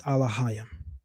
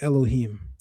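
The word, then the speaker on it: אלהים: Even the pronunciation they offer is Alahayim, and that is completely incorrect. The proper way is to say Elohim.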